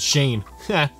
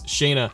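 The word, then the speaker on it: Shayna: pretty deadly Shaina and I said Shane it's Shaina and Zoe Matt can't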